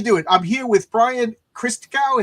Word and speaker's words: Christgau: I'm here with Brian christow is that how you say your name yes Chris I get Chris Chris G Chris ganu it's it's all good my my last name